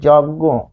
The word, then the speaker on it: যজ্ঞ: এখানে কি, এটি কিন্তু নাসিক্য, তাই না, নাসিক্য হবে, তাই যজ্ঞ এরকম হবে, যজ্ঞ।